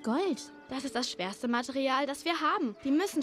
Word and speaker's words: Material: Make sure to pronounce it like the German A with an open A. Open your mouth wide, don't say material. Yeah, it's very different pronunciation. Just make sure you open your mouth twice. Material, but the second A is a bit longer. So stretch it a bit.